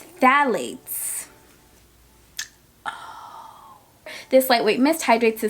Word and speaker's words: phthalates: It says here it has no parabens, no sulfates, no phthalates.